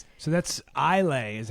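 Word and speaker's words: Islay: So that's Elay is how that's pronounced. Boom. Roasted. Did I say? What is that? You said Isl which is how it's written.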